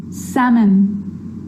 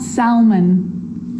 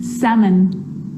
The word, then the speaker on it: salmon: yoke half calf salmon not Selman salmon so we got through